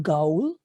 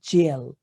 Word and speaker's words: gaol: This is not goal. The correct pronunciation is jail.